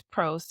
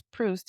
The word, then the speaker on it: Proust: I don't think it's Proust. It's Proust is how you pronounce it.